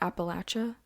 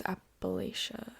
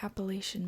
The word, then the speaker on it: Appalachia: that I've listened to, people who are from there call it Appalachia. My whole life thought it was Appalachia. The Appalachian Mountains. Yeah. But apparently it's Appalachia. They pronounce all the syllables. Yeah. Every single syllable.